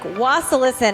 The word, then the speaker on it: Wasilisin: Today, I'm here with my good friend, Wasilisin, and I pronounced his last name right.